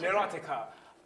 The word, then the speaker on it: Oiticica: looking at, let's say, in how do you pronounce it? Neurotica. Neurotica.